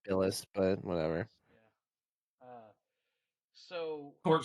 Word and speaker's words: Bilas: It's pronounced Billis, but whatever.